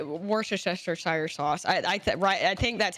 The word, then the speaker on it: Worcestershire: Someone think said it's wash your Worcestershire. sister, and it's just easier. Wash your sister.